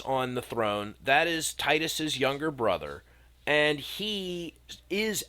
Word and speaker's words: Titus: It's pronounced tit-us.